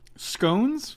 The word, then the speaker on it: scones: trombone they like scones scones it rhymes with bones okay the scone bone